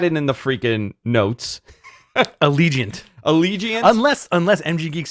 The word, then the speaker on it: Allegiant: me my bra i should know this thing reliant i had it in the freaking notes allegiant allegiance unless unless mg geeks spell that coming let me let me set this